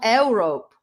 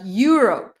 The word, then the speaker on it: Europe: I'm going to Europe, not Europe, but Europe.